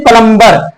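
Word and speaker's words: plumber: ऐसे ही प्लम्बर, अक्सर लोग प्लम्बर ही बोलते हैं लेकिन प्लम्बर नहीं प्लम्बर है।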